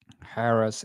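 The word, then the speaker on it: Harrah's: I don't know how you say it Harris Entertainment Harris.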